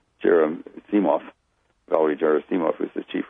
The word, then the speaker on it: Gerasimov: Wall and the Russian advisor, I mangled the pronunciation, Gerasimov, Valery Gerasimov, who's the chief Russian guy, and